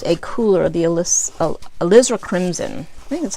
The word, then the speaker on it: alizarin: red and use a cooler of the ELISA alizarin crimson that's how you pronounce it so I have alizarin crimson I'm